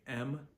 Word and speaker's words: ma: is simply ma a which is pronounced Ma just like your grandma so m a m is pronounced just like m is pronounced in English and then a is pronounced like a like when you go to the dentist and the dentist says okay open wide say ah so ma is the